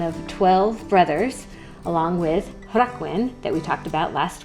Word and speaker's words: Llangelynin: And before you ask why the settlement is pronounced with a G, it has to do with the way certain consonants soften in Welsh depending upon what sound comes before them.